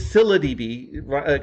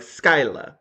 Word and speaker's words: ScyllaDB: But it's ScyllaDB, kind of like silly, but with an A at the end.